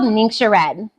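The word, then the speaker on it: Ningxia Red: it if you'd like this is called ninga red it look the spelling does not look at all how you pronounce it so this is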